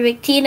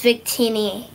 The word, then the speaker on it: Victini: correct and also for uh lucia it's actually pronounced lugia and for victina it's victini i appreciate it i appreciate it i'm just